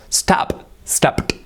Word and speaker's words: stopped: Remember the verb and then the T sound. Stopped.